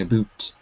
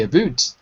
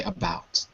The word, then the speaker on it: about: it because I think when you see the U you have uh you want to say it in a Hungarian way I think that's what it is is you're saying a boot which is okay if you're Canadian Canadians can say abot but Americans and British people say about okay very good very